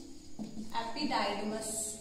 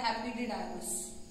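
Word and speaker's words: epididymis: तो एक ऑर्गन आएगा जिसे हम कहते हैं एपिडाइडिमस या एपिडिडाइमस, ठीक है, प्रोनाउंसिएशन अलग अलग होती है।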